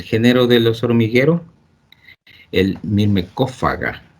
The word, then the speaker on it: Myrmecophaga: de los hormigueros, el Myrmecophaga, o sea, el pH se pronuncia como F en el latín, así se debe leer como F, la pH es como debe ser. Entonces, a veces los gringos